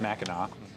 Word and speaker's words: Mackinac: it's spelled Mackinac I learned only recently it's pronounced Mackinac um but they like it's it's a tourist